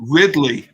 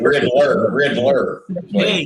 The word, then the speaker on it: Ridley: It is Ridley. R-I-D. Ridley. Y. Yeah. So if Jeff pronounces it because he always adds ER at the end of every word, it'd be Riddler. Yeah.